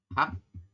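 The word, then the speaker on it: 학: H, konsonan H, vokal A ditambah dengan giok di bawah, maka dibacanya adalah hak, bukan hag ya. Ini kenapa hak? Karena yang di bawahnya adalah giok. Jadi giok itu kalau di bawah bunyinya adalah K.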